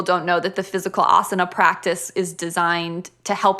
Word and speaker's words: asana: of like you put together series about is asana am i pronouncing that right no you are in it